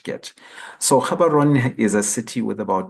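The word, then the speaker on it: Gaborone: the capital city of bwana Ison so they pronounce it G is like a so it's called karon and this picture is not a picture of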